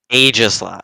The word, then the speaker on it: Aegislash: How do you say it? It's Aegislash. Aegislash, sorry. It is Aegislash.